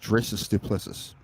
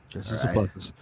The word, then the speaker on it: Dricus Du Plessis: Number one, you guys are saying it wrong. It's Dricus Du Plessis. I have a South African friend. I know how to say it. Dricus Du Plessis.